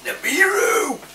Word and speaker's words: Nibiru: She used to say it the wrong way around. So it used to drive me crazy. I'm like, Mesh, it's Nibiru!